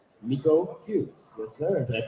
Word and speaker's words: Miko: case you don't know who this is, it's Miko Hughes. Yes, sir. Did I pronounce it right? Yes, you did. Yeah. Wow. No, you nailed it. Good thing you said, because I was going to say Michael.